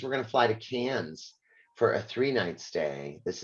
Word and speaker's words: Cairns: going to fly to Cairns for a three-night stay this is the Great Barrier Reef region it is pronounced cans by the way the r is completely silent uh and we will